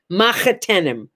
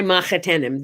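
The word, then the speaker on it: מחותנים: an argument among jews people first pronounce it differently but i grew up learning it to be mahatanam so my son-in-law's mother is my mahathenum my son-in-law's family is my mahatenum they're the family of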